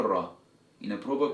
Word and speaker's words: ر: So if you pronounce the letter Ra in a proper correct way, then it should look and sound like this.